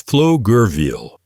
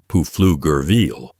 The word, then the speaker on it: Pflugerville: Pro tip: it's Pflugerville, not Pflugerville. You're welcome.